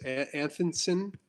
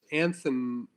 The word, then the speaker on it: Anthonison: one of Mark is Anthonson. I always mispronounce his last name. I apologize. Anthonison. It's not that hard. You just have to learn it.